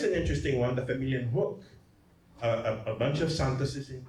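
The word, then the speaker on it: Huk: Hook. So if I were to spell it in a Chamorro way, it would be H-U-K.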